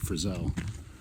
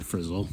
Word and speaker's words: Frissell: for the state's Highpoint, Mount Frissell, or Frissell, depending on how you pronounce it.